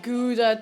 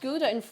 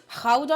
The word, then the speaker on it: Gouda: Yeah, it's not pronounced Gouda in Dutch. It's like Gouda or something.